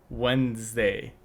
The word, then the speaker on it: Wednesday: not there, and then you just have to say Wednesday, and then he would just go Wednesday.